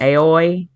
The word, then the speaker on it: Aoi: It's AOI. Is it Aoi? It's Aoi. Aoi.